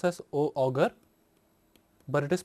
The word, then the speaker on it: Auger: In this lecture, we will learn about Auger electron spectroscopy. Here we say that OUGER, it is not pronounced as auger, but it is pronounced as Auger, AUZEY.